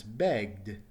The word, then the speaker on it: begged: Let's look at the past tense, begged. Begged. Notice it's a D sound at the end and no extra syllable.